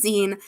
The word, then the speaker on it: zine: Yes, it is pronounced Zen. Um, I go back and forth pronouncing it one way or the other because I always pronounced it Z because I didn't know it was short for magazine at first and then